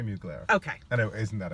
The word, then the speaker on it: Mugler: his exhibit in Canada the French woman pronounced it so no D so how do you say it Thierry Mugler okay I know isn't